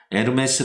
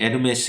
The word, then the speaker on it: 에르메스: 여기에 명품 이라고 하죠 엘엠에스 라고 제 발음을 하기도 하는데요 올해 제가 여러분에게 소개하고자 하는 것은 전혀 그것과 상당히 없습니다 어 이 앨범의 쓰는 이 회사의 창업주 이름이 티에리 에르메스 이기 때문에 에르메스 고 올해 제가 여러분에게